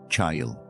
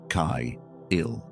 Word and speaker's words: chayil: But the way it sounds in Hebrew is closer to kai-il. Two syllables with a soft breath at the front and a quiet landing at the end.